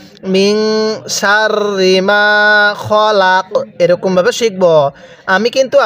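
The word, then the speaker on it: خلق: খবর খ লাম জবর লা কফ জবর ক খলাক শব্দটা কি খলাক এখন যদি ওয়াকফ করি তাহলে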